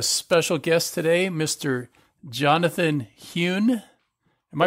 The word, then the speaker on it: Huhn: Jonathan Hyun am i pronounced am i pronouncing that correctly mr.